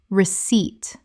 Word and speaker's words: receipt: salmon salmon Word 186 receipt Common mispronunciation receipt Correct pronunciation receipt The p is completely silent. Two syllables with the stress on the second.